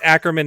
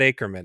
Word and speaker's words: Ackerman: right off the bat it is aan it's acman not acran ACR correct yeah I